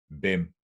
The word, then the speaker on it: hvem: In this particular combination, the H is always silent. And it goes for a lot of these question words that we use in Danish. Hvornår, hvad, hvem, hvor, or hvordan.